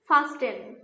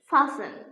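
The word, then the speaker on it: fasten: ফাস্টেন শব্দটির উচ্চারণ কিন্তু ভুল। এর সঠিক উচ্চারণ হচ্ছে ফাসেন। ফাসেন। টি ওয়ার্ডটি উজ্জ্ব থাকবে।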